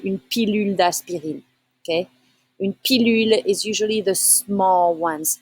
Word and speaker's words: pilule: Une pilule. Pilule. Okay, you need to say U sound, pas OU.